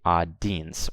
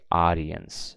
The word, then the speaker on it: audience: the word audience right you can see I pronounce the I and the e as well so yen's I don't say odd Dean's or our Dean's I say audience okay the eye is